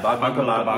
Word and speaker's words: Bhaag Milkha Bhaag: how you pronounce yeah, that right? Yeah, BHAAG MILKHA BHAAG, which is run, milk or run.